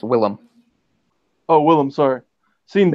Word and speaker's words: Willem: didn't know as Willem it's just pronounced um Willem it spelled that way it's like II am isn't it wyl LEM yeah it's actually Willem it's not offended good